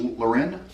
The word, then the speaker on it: Lauren: This is a polar bear by Ralph Lauren. So Did I close. say Lauren? Oh, no, Lauren. Lauren, I said it right.